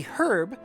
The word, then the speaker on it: herb: This is a herb that when burned should attract the zoo. Okay, they do actually pronounce the H. Then this is a herb that when burned should attract the zoo.